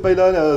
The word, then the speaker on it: paella: ça a été la paella. Alors, je crois que je ne le prononce pas très bien. Paella, vous non plus. On nous a repris. Paella, paella, voilà, c'est ça. Dire paella. Ouais.